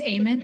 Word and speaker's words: Eamon: It's Eamon, like end of a prayer is the best way to I'm pronounce sorry. it. So let me get a do-over. Eamon, the floor is yours.